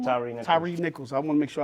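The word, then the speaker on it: Tyre Nichols: Tyree Nichols. I want to make sure I pronounce his name right.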